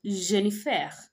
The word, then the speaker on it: Jennifer: will say je m'appelle Jennifer okay so I on the Jennifer that is how Jennifer is pronounced in French or or so in